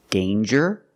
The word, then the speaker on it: danger: Example, danger and anger. So with danger, we hear the J sound. Danger. There's no nasal sound. There's no It's a regular N.